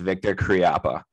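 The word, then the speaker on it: Viktor Khryapa: should say it okay that's exactly how it's pronounced victor kriappa yep and that's exactly who i want to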